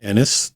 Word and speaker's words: Ennes: and yes it's pronounced Enis just like the two letters um and they're named after Harold Enis uh we got a